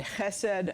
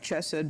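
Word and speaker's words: חסד: important concept and that hessed I spell it c h s d if you want to know how to spell it it looks like chessed but we don't say CH in Hebrew so it's the um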